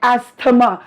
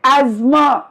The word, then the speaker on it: asthma: pronunciation cannot go wrong people call it asthama no my children call it asthma right isn't it right